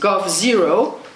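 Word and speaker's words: g0v: trade paack with China and they founded go pronounced go zero g capital oov which defined themselves as a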